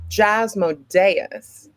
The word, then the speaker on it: Jasmodeus: the one the only jasmodeus Accent on the E and they actually got